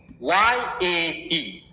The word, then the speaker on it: rakyat: ஆர் ஆர் ஆர் ஏ கே RAKYAT. RAKYAT. திருப்பியும் சொல்றேன், RAKYAT. எஸ், யாரு? தனா டைப் பண்ணிருக்கா பாத்தீங்களா? ஓகே, இதை நீங்க எப்படி ப்ரொனவுன்ஸ் பண்றீங்க?